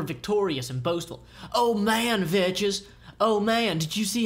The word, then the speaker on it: Vechs: I outthought Vechs, or Vechs, for those of you who like to pronounce his name correctly.